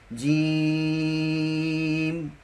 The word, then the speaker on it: جیم: با تا ثا جیم۔ یہ چونکہ سہ حرفی تلفظ ہے اس کو ہم لمبا پڑھیں گے، جیم۔ ہا، 2 حرفی تلفظ